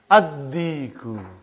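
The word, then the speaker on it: الديك: Ad-Diku. Why? You did not pronounce Lam because it is sun letter.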